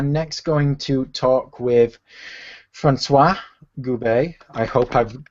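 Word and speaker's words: François: So I'm going to pass things straight over to Francois. First of all, did I get the pronunciation right, Francois? Yeah, it's Francois. You're right.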